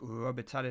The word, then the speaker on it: Robitaille: I think it's how you say it, Robitaille.